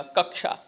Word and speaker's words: कक्षा: कौन सा हो जाएगा कक्षा शब्द का शुद्ध उच्चारण बताइए कक्षा का कक्षा कक्षा कक्षा या कक्षा तो साथियों इसमें सही हो जाएगा कक्षा जमादार शब्द स्रोत के